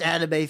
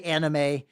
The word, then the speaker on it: anime: It's like, I must use correct Japanese pronunciations, but I also it's manga, not manga. But also I say anime, which it's supposed to be anime. It's I'm fucked.